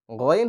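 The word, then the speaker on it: غين: গইন হচ্ছে জিহ্বার শেষ প্রান্ত থেকে। গইন। গইন হচ্ছে গলার শেষ প্রান্ত থেকে অর্থাৎ শুরু থেকে। গইন হচ্ছে হলকের শেষ ভাগ বা গলার শেষ ভাগ থেকে।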